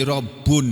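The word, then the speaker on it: ربٌّ: Rob, kata-kata Robbun asal katanya, tulisannya Robbun, membacanya Rob. Bisa kadang-kadang dalam Al-Quran berbunyi Robbu, kadang-kadang berbunyi Robbi, kadang-kadang berbunyi Robba. Itu tergantung kedudukannya di dalam kalimat sebagai apa, maka berubah bacaannya. Tapi asalnya berbunyi Robbun, yang artinya kalau dalam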